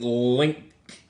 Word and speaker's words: Lyngk: Playing Link. You pronounce that linked, right? Link. Link. I'd say link, link. I was Alright. trying to put the G in the K, but I can't say that word.